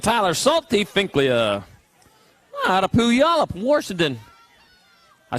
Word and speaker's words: Puyallup: Out of Puyallup, Washington. I said it right. Puyallup, yeah. Puyallup. He told me wrong then. He lived up there too. It's Puyallup, not Pile Up or Puyallup.